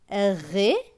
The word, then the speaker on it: réveil: R avec E accent aigu. E accent aigu, c'est E. Donc, R et ré. V suivi de E-I-L. E-I-L, c'est eille. Donc, V et eille, veille. Donc, ce mot va se lire réveil.